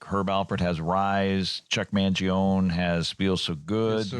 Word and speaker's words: Mangione: I've always said Mangione with the E on the end. Keep going at the end, yeah. More syllables.